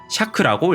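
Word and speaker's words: 尺: 이 자척, 길이척자는 음독밖에 음이 없고 샤크라고 읽습니다.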